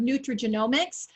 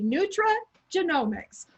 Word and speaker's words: nutrigenomics: And it's interesting that you kind of hiccuped on the word nutrigenomics.